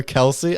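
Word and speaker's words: Kelce: Chiefs said, you know, it's not even pronounced uh Kelsey and then I think they had the father on the podcast and they said it it's actually pronounced supposedly it's it's pronounced Kelse.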